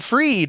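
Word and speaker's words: Fried: we have Sam bankman freed rhymes with greed the opposite of freed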